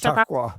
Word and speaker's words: Chautauqua: Uh, I can't even pronounce that name, so I'm gonna have to skip that one. Chautauqua, I'm sorry. that's Chautauqua.